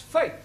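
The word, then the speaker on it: fete: For example, f e t e is also pronounced fate.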